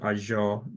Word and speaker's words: Azure: AO Dev something around that it's not is azure Dev actually so it took me a while also to get the pronunciation anyway but just watch out for those